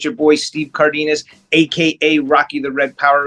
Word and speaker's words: Cardenas: I want to see actual pronunciation, brother. Yeah, it's Cardenas.